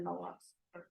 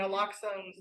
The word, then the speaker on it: naloxone: And something happens and they have Narcan or naloxone. How do you say that? Generic? Naloxone.